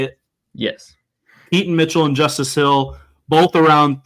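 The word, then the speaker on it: Keaton Mitchell: correct is that how you say it yes Keat and Mitchell and Justice Hill both around 390 yards um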